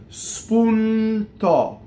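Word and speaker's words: spuntò: So now a lot of words that end in final O with an accent on the last syllable, which is not a typical accent in Italian, will have an open O, right? So in this case, spuntɔ, right? Open O.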